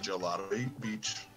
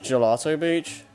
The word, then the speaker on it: Gelato Beach: It's pronounced Galato Beach. It's pronounced Gelato Beach. Yeah, Gelato Galato. I always pronounce it as Galato.